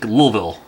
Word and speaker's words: Louisville: I was like in Louisville Louis like Louisville Kentucky no way too many syllables it's El apostropheville like lilville roll off the tongue